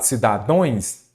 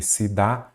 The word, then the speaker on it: cidadãos: O que eu falo? Cidadões? Não. Então eu falo o quê? Cidadãos, ok?